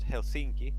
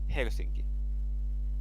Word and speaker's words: Helsinki: authentic okay uh there the stress is always every single time on the first syllable so it's not Helsinki it's Helsinki all the time every time in Finnish in The